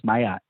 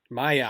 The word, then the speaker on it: Maat: It says the Holy Book of Maat. Is that how you pronounce it? Yes, my yacht. Mayat.